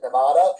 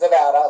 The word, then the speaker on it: Nevada: the first time I said Nevada, I was very quickly corrected. It's Nevada. I'm like, got it.